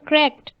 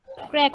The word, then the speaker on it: cracked: Cracked. উচ্চারণ হবে ট, ক্র্যাকড। ক্র্যাক। ম্যাম ভাঙা একটা গাড়ির গ্লাস। সবাই ক্র্যাকড। Crack. ক্র্যাক। ট, শেষের উচ্চারণ হতে হবে ট, ক্র্যাকড।